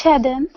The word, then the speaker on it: Shadon: And Shadow. And how do you say your name again? Is it Shadow? Shadow? It's Shadon.